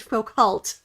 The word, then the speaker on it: Foucault: Is it Foucault or is it Foucault? Foucault. You know, the French always leave the last few consonants out of the pronunciation.